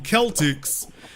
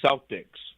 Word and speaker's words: Celtics: to announce it that the team is named after the Kelts so when you take